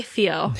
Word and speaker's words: Theo: Oh well, I'm gonna say Theo because this is America. We pronounce the H. We pronounce the H, and we don't pronounce the PH.